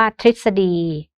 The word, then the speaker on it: ทฤษฎี: รูป ออ นะ คะ ส่วน เอ่อ เสียง ริ นะ คะ รอ รึ นะ คะ แต่ ออก เสียง เป็น ริ นะ คะ ก็ อย่าง เช่น คำ ว่า ทฤษฎี กฤษนา อมฤทธิ์ นะ คะ